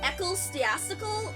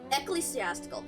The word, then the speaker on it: ecclesiastical: I always forget whether the second syllable, the ecclesiastical. I forget whether the second syllable was cla or like kel.